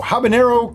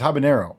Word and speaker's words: habanero: By overwhelmingly popular request, Mango Habanero Capsicumel Mead. And the correct pronunciation is habanero.